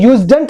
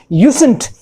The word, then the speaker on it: usen't: use plus not plus to, this is usen't, इसके pronunciation देखिए, ये usedn't नहीं है, this is usen't.